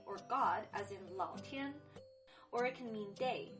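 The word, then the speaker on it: tiē: in or pot sticker notice it's pronounced tia not thai even if it is spelled t-i-e remember pinging is not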